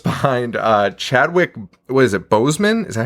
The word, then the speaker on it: Boseman: weekend with just behind uh chadwick was it bozeman is that how you say it chad boseman yes rest in peace r.i.p